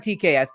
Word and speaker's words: TK's: We're talking TK's Batcave. That's how you say it. It's not TKS. It's TK's Batcave.